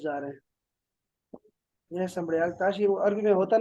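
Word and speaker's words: Sambrial: کہتے ہیں سمڑیال مطلب وہ سمڑیال کی نہر سمبڑیال میں ہے ہاں وہ سمبڑیال ہے بہت اپنے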